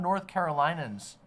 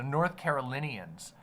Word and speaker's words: North Carolinians: of North lot of north carolans have shown up I don't know if that's the right way to say it North Carolina North carolan Carolinian yeah okay so North Carolinians uh have shown up